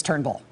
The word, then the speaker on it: Turnbull: his name is not Trumbull his name is Turnbull there were these early